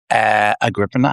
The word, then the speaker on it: Agrippina: Agrippina, I think that's how you say it.